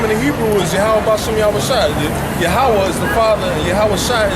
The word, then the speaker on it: Yahawah: The exact way you pronounce it. Yahawah. Yeah, they say Yahweh, they say Yahuwah, they say all, but the correct way is Yahawah.